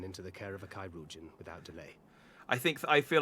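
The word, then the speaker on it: Chirurgeon: the care of a Kairujan without delay. I feel like Thancred was saying that to me. Also, I now realise I'm pronouncing Kairugan wrong as well. I'm pronouncing it Chirugian.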